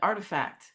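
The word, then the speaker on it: Art+Fact: Um I did a project called art plus fact but we were pronouncing it artifact and um it was there were people in who were the artifacts instead of objects.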